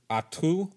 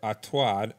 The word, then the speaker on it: Artaud: Yeah, the dramatist was named Antoinon Artaud or Artaud. I've seen it pronounced both ways.